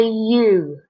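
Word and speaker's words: ewe: a female sheet and that's called a you okay not as an Aleph to you but if you can see that it's spelt with an e w e you some farmers call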